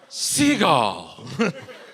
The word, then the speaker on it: Seagal: Anyway, he went to a Chagall retrospective. He's like, I like that. I'm just going to say my name like that now. Seagal. Chagall Seagal. And it worked.